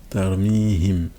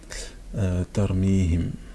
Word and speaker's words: ترميهم: Tarmihim. Donc là c'est pareil. Donc j'ai un ha. Hop. Et là je reviens. Tarmihim. Ta. La soukoun sur le ra.